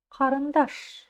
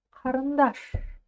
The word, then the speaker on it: қарындаш: Букву К читать легко? Легко. Чуть-чуть откашлялись через букву К, и у нас получился звук Х. Х. Дальше второй слог рн. Рн. Представим, что буквы нету, И просто произнесем все это вместе. Харн, харн, харн. Идем дальше. Слог даш. То есть написано А, значит А. Харндош быть уже не может. Такие дела. И ударение будет стоять на даш.